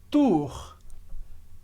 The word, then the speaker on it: tour: Agora, atenção com a pronúncia de Tour Eiffel em francês. Então, primeiro, a gente tem a tour, que é a torre. Vai, repete comigo, tour. E muita gente pergunta, Felipe, como que é essa pronúncia do R? Parece difícil. E é diferente, claro, mas ajuda muito se a gente olhar para cima no início para se acostumar ao som.